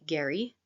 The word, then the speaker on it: Gehry: here's an example by yet another architect Frank Gary that's spelled g-e-h-r-y Frank Gary um and it is